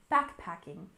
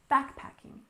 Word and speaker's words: backpacking: exploration first is backpacking we stress the first syllable in backpacking backpacking of course you know